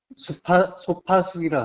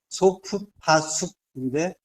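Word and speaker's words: סוף פסוק: 소파숙이라 하는데, 소프파숙인데, 빨리 읽으면 이제 소파숙이 되는 거죠. 발음이 좀 어렵긴 한데, 이게 마침표예요.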